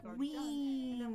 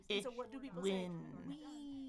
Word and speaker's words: win: And so what do people say? Wean. We're gonna wean. Look at me. Look at my lips. Relax those. Win. Win. Win. So focus on that vowel because it's only 1 syllable.